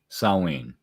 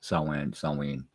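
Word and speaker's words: Samhain: All Hallows Eve Halloween saen um it's pronounced different ways sa sinen depends on what portion of Europe you're from um it is a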